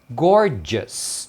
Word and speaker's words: gorgeous: Então é gorgeous. Tá vendo? Just. Gorgeous. É muita letra, mas a pronúncia é simples.